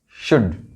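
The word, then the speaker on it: should: कुड, शुड। यहां भी L silent है।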